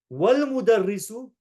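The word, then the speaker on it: والمدرس: Whereas wal-mudarrisu, we never pronounced the hamza or the fatha on that alif because there was something before it, the waw before it.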